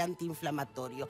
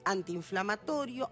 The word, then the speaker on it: antiinflamatorio: en el caso de antiinflamatorio en la mayoría de los casos se quedan con una sola vocal porque porque cuando lo pronunciamos articulamos una sola vocal decimos portaviones antiinflamatorio antiinflacionario y preestreno es